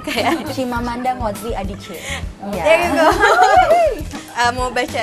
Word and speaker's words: Chimamanda Ngozi Adichie: This is like kesalahan di saya karena saya nggak bisa pronounce her name kayak. Chimamanda Ngozi Adichie.